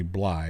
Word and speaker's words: Blythe: Turns out Randy Blythe had nothing to do with it. Or Randy Bly, I'm sorry, that's how you pronounce his name.